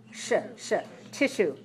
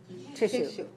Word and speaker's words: tissue: sha okay so notice that this spelling i-s-s-u-e doesn't sound like s it sounds like shu tissue tissue tissue any questions so far